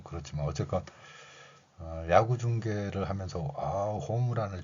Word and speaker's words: 홈런: 그런데 받침을 사용하지 않고 받침 표기가 없는 일본어의 원리를 적용해서 으 발음을 넣어서 호무란 이러죠. 호무란.